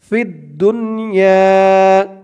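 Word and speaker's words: في الدنيا: ইয়া আলিফ জবর ইয়া, ফিদ দুনিয়া, ফিদ দুনিয়া।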